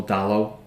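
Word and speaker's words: Dalot: write a lot about Diego dollar for United or down low as he's pronounced and he's like the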